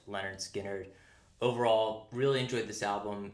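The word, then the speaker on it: Lynyrd Skynyrd: Okay, next up we've got an all-time classic, Leonard Skynyrd, pronounced Leonard Skynyrd.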